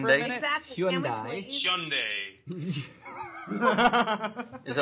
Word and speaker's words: Hyundai: can we pronounce it correctly Hyundai? For a minute? Exactly. Hyundai.